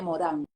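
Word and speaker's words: Morin: porque hay que contextualizar René Morán creo que es Morín se escribe m o r i n y eh había un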